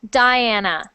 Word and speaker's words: Diana: me first word Diana so in English we pronounce that Diana Diana thank you good